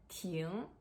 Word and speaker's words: 亭: about three characters today tune tun tune yes they all pronounced as tune of course with different